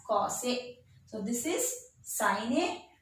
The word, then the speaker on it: cos A: But in short, we write COSA. How will you pronounce this? We'll pronounce, instead of pronouncing cosine, we'll pronounce it as cos A.